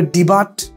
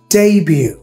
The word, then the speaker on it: debut: তারপর আপনি একটা ওয়ার্ড ধরেন ডেবিউ, বানানটা হচ্ছে DEBUT, আপনি এটা যে কোনো মানুষ ভুল করবে, এটা ডেবু, ডেবিউ, ডেবিউ, অথবা অনেকে বলবে ডিবাট, হ্যাঁ, ডিবুট, আসলে এটা উচ্চারণ হচ্ছে ডেবিউ, হ্যাঁ, DEBUT।